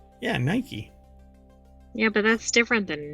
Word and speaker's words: Nike: how to it is Nike yeah Nike yeah but that's different than Nike do you put the emphasis on key well they don't have